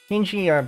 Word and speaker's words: PNG: pull up our pngs pingi by the way is apparently supposed to be pronounced as ping as a single word I don't think I've